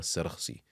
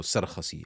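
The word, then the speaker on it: Sarakhsi: which is Shamsul A'imma Sarkhsi, or Sarkhasi, as some people have pronounced.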